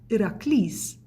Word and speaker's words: Herakles: The Greeks actually pronounce his name as Herakles, and in English we know him as Hercules.